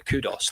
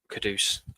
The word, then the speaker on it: Kudus: And to be fair, if everyone rightly remembers that before the Kudus deal, Kudus, I keep saying it wrong, everyone was in the same spot.